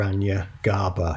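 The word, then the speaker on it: Hiranyagarbha: used for this called Hiranya garbha you might want to look that up I have anglicized the pronunciation here Anya GABA now this versus a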